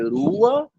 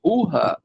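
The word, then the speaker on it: רוח: Então, a gente lê Rua, ou Rua, né, e não lê Ruha. Então, esse é um caso particular onde o sinal massorético, o patar, ele é lido antes da letra. O som dele é pronunciado antes da letra Rete.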